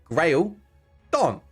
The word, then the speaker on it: Graeldon: It's Graeldon. Simple. Grail like the Holy Grail, and hence why we've become Crusaders.